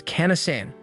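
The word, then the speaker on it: かなさん: pronunciation, and adds that the right pronunciation is Kana-san, which translates to I love you in the Okinawan dialect.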